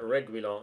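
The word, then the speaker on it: Reguilón: Reguilon, apparently, is how Derek Rowe pronounced that. Reguilon.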